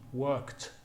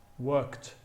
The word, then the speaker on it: worked: The ed is pronounced as a t, worked, worked.